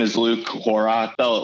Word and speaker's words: Horak: muzzleloading space in general his name is luke horack felt like ack or ick but it's pronounce it ock so horrock i'm not never offended if people get it